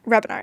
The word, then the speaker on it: Hrebenar: Rebinar. Yeah, Rebinar. Okay. That was good. Nailed it. Nailed it. The H is silent.